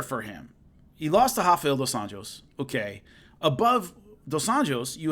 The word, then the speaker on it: Rafael dos Anjos: pronouncing the name is the way he says his name, and I've heard him when I was calling his fights and stuff, it's like Rafael dos Anjos. It's really, and I always think of that every time I say his name, and I'm like trying to say it, but it's Rafael dos